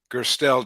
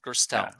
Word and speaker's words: Gerstel: how did i do pronounce it for me again gerstel generally yeah versatile gerstel um and david is